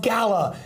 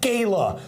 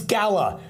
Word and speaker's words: gala: By the way, it's pronounced gala, not gayla. Okay, it's gala.